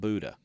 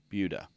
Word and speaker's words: Buda: Not Buddha, Buda. It's a Texas thing. That's how we pronounce things in Texas.